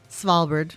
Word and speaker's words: Svalbard: Svalbard. It's with like SV. SV. We our Scandinavian people like to use that combination.